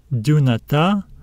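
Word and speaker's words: δυνατά: Another accent. We will stress this alpha at the end. Let's read it. Dunata, dunata, dunata.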